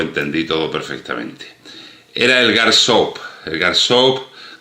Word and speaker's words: Gairsoppa: Era el Garsope, Garsape, Garsopa. Lo he oído pronunciado de un montón de formas distintas. Se escribe Garsopa con dos S, tal y como suena.